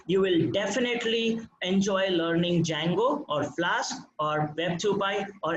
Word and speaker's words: Django: Some people call it as Django, D is silent.